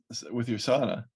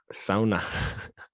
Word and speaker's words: sauna: Who says sauna? Sauna. It's like SOU. You know who says it is people who know how to say it. Because they're Finnish.